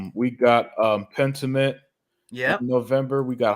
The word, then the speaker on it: Pentiment: Yeah, Pentiment.